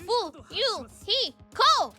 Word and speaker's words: Fuyuhiko: My first name is pronounced Fu, Yu, He, Ko!